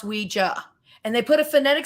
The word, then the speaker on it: Ouija: But yes, it's pronounced Ouija. Now, because of pop culture and enough people saying Ouija, you can say it interchangeably.